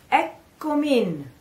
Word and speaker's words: Eccomi: But when we pronounce it all together, we say eccomin. Eccomi. In becomes eccomin. Eccomin. All together.